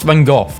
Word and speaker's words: Van Gogh: Americans saying Van Gogh is pronounced Van Gogh. British saying it's pronounced Van Gogh. It's a Dutch name, and Dutch pronounce it as Van Gogh.